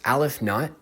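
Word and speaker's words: ℵ₀: infinities, but I will show you this symbol pronounced al if not.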